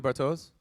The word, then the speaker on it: Bartosz: Am I saying it correctly, Bartosz? Yeah.